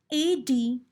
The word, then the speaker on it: adjective: The word adjective is pronounced as adjective as it has silent letter D in it.